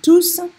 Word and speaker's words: tous: So if you mispronounce this up here and you forget to say the S on tous, people will be thinking that you're saying something different.